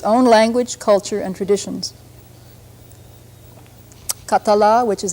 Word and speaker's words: Catalunya: Peninsula with its own language culture and traditions khattala which is how you pronounce the name Catalan in the language has